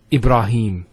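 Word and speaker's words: إبراهيم: the elongation of the a sound next word Ibrahim so here IB ra notice here Theta followed by the alif once again along thou ibra no ibra ibra ibrah and then Heen Ibrahim has a question followed by the Yeah so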